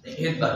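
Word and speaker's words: Svedberg: হ্যা কিন্তু তার বানানটা প্রথমে এস আছে কিন্তু উচ্চারণ এস হয় না ভেদার বলে তো তিনি একটা কাজ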